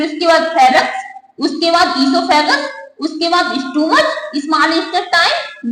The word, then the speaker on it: oesophagus: Number first mouth, number second फायरेक्स, third ईसोफेगस, ओ silent रहता है ईसोफेगस, fourth stomach, 5 small intestine, 6 large intestine, 7 anus.